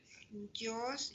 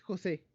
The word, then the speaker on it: José: Jos Israel Rosas. Presente, profesora. Ok. Jos se pronuncia, ¿no? O Jos. Es José.